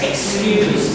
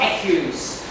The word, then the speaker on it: excuse: Now in English, X is a S sound, not K. Okay? Excuse me, sir. Excuse me. Not accuse. Excuse.